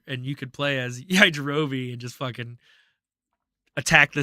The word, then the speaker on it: Yajirobe: Yajirobe.